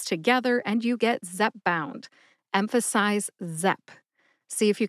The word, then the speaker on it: Zepbound: drug name today is Zep bound Zep bound only has two syllables Zep which rhymes with pep and bound as in